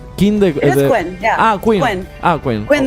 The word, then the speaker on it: Quinn: Houston and can you tell us how did Queen the brain no it's it's not Queen it's King how how do you pronounce King the Quin ah Quin ah Quin Quin the rain yeah